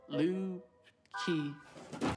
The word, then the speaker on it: Lucy: That means guitar in Icelandic. It is actually pronounced Lu-ki.